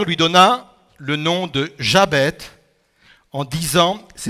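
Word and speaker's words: Jaebets: Pour parler de cela, j'aurais pu choisir beaucoup d'exemples, mais j'ai choisi l'histoire de Jabet ou Yabet, si on le prononce de façon hébraïque.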